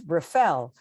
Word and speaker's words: Rafel: So it's Rafel.